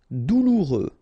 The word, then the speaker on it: douloureux: Douloureux, remember, final X not pronounced, so you get this OU together, ou, douloureux, douloureux.